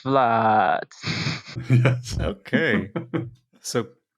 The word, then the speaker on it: Vlad: prefer if you pronounce Vlad yes okay so it's a Dutch way it's a Dutch way